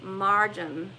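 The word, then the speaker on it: مريم: sirens were assimilated with the miriam pronounced in arabic marjam and later the virgin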